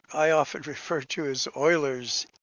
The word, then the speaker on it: Euler: but it's e o that in german is pronounced as an o so euler euler leonard euler a famous mathematician who developed the